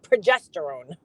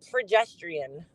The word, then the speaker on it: progesterone: that you're talking about which is estrogen and progesterone P now I can't even say it not pedestrian like what pedestrian equestrian what the [